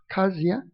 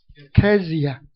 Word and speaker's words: Kezia: Is that pronounce it right? Kasia? Kezia.